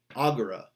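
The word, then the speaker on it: agere: like moneiri, terreiri, salveiri, it's a short E. So scribera, ducera, agera, winkera. It's literally a short E in that you're just like not emphasizing it in the way that you would with a second conjugation.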